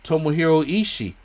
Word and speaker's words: Tomohiro Ishii: Tomohiro Ishii was out.